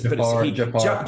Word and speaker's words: Jafar Panahi: Jafar Panahi. Jafar or something is I believe is how you say his name.